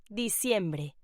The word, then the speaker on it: diciembre: December in Spanish is pronounced diciembre.